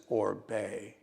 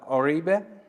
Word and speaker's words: Oribe: he was Cuban but the world knows him as obey so you're right either way okay so um Mr Oribe and the name of